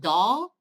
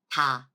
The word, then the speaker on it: ㄷ: This one is D or T sound. That's what people say, right? Actually, it's softer T sound. It's not D. We don't really do much trick with our mouths or tongues, okay? We don't roll our tongue. It's not like English, so don't think of English sound, all right? You have to drop the English pronunciation, okay? It's not da, it's ta, ta.